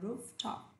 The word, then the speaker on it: rooftop: Nhớ có chữ F ở giữa, không phải rooftop mà là rooftop.